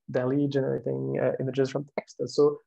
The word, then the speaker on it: DALL-E: DALL-E, this is pronounced that way, which have very fuzzy description of what they're supposed to do.